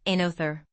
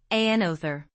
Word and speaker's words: another: And notice that another has 3 syllables, another. Emphasize the second syllable, another.